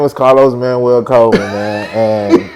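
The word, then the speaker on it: Manwell: like man so because it's not spelled like my manwel is not spelled the Spanish way m a n u e l it's m a n w e l l and so for the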